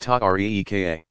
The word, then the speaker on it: tariqa: These organizations came to be called tariqas, pronounced ta-reeka.